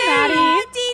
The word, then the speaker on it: Dietschy: that intro hey Daddy rhymes with peachy what's up everyone I